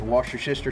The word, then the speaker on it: Worcestershire: Or if you're an Abercrombie, it's wash your sister sauce, right? A little bit of that wash your sister sauce. This is Alabama smash burger. You'll get wash your sister sauce on you or anything else if you